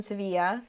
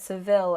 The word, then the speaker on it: Sevilla: my friend lives in sevilla that's the correct spanish pronunciation i said seville earlier because that's how you say it in english but um so my